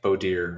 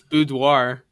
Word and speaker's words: boudoir: it i think it's boudoir oh really i swear i've heard both that sounds like that's like the french way of saying it anyways um well whatever